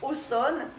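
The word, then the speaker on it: Auxonne: famille originaire de Aussonne alors ça s'écrit oxon et en Bourgogne ça se prononce au sol qui est une petite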